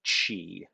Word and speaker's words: Qi: then there's also this idea of Chi which is which is spelled Qi and that is the